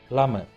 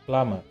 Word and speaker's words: plumber: B is a silent letter in that word. So How do we pronounce? It is plumber, not plumber, it is plumber.